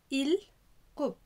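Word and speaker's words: 일곱: رقم سبعة إل كوب إل كوب إل كوب إل كوب إل، الإنج ما بينطقش إي وبعد كده حرف الراء إل، والراء جاية تحت فبتنطق كأنها لام إل، وكوب إل كوب إل كوب هو رقم سبعة.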